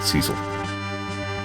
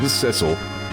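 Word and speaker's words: Cecil: of the game that it is in fact pronounced Cil not Cil Captain Cil will arriving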